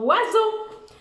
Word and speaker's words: oiseau: C'est pour ça que ça fait Z, mais c'est un S dans oiseau. Ça fait wa, O-I, Z, mais c'est S. Et le son O, qui s'écrit E-A-U. Oiseau. O-I, wa, Z, S, O, E-A-U.